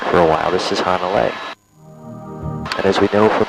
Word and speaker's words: Hanalei: This is Hanalei. Didn't quite rhyme with sea, so we just had to tweak it a little bit.